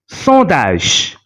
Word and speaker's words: sondage: Sondage. The combination ON is pronounced as on because there is no vowel after it.